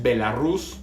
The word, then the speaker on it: Belarus: Bielorrusia, lo digo, quizá la pronunciación preferida por el gobierno es Belarus, pero me queda un poco con el nombre viejo, que literalmente quiere decir Rusia Blanca.